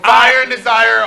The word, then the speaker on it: Fire and Desire: Fire and Desire, all of this is good, but I'm telling you, pronouncing it incorrectly. It's Fire and Desire.